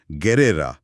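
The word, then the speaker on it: guerra: এর ফলেই তাহলে স্প্যানিশ গেরেরা মানে যুদ্ধ শব্দটিতে জি ইউ ই থাকার কারণে উচ্চারণটা গেরা হয়। হুয়েরা হয় না।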